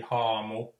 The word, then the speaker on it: haamu: The Finnish word for ghost, or well, one word for ghost would be haamu. So the Ha is always ha, and the Finnish word for lake is järvi, J, A with umlaut, RVI, järvi.